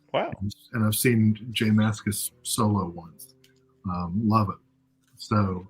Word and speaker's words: Mascis: I totally forgot how to say it, but it is Mascis.